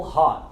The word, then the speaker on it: hot: E as palavras que terminam com T e nós não falamos o T, nós também silenciamos, como hot.